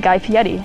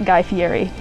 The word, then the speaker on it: Guy Fieri: Number two, the name of the host from the TV show Diners, Drive-Ins, and Dives is pronounced Guy Fieri, not Guy Fieri.